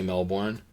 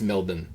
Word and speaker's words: Melbourne: And you may think I'm mispronouncing that, but apparently you do not say Melbourne. Apparently it's it's Melbourne.